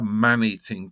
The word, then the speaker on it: man-eating: that eats people a man-eating tiger um the emphasis is on the first element but if the tiger